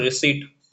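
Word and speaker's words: receipt: द एलगेशंस proceed after रिसीप्ट आर ई सी ई आई पी T spelling होगी बट यहां पे पी जो है आपका साइलेंट रहेगा ऑफ द अमाउंट द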